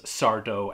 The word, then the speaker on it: Sardo: he is you know he is sardo accent on the dough he's got the same